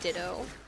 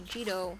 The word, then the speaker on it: Ditto: Can pronounce it like the Pokemon Ditto. Some people say Jito like Cheeto.